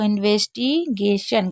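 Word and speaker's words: investigation: को सन पढ़ते हैं वैसे तो टी आई ओ एन को सन पढ़ा जाता है लेकिन इसमें श शलगम वाला शक पढ़ा जाता है ठीक है तो इन्वेस्टिगेशन का मतलब होता है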